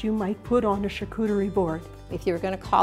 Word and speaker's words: charcuterie: Randy is going to tell us about something called a charcuterie board. Am I pronouncing that right? You are. It's a French word.